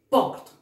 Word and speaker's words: porte: Verán acá, verán aquí, niños, que la E final no se pronuncia. La E final indica que está en género femenino y no se pronuncia. Por ejemplo, acá dice porte, acaba en vocal E y esa E es muda, no lo vas a pronunciar. Vas a decir porte.